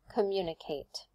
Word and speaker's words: communicate: How about communicate? If I exaggerate, I will say communicate, communicate. You can hear it goes up on the mu, right? On the second syllable, communicate.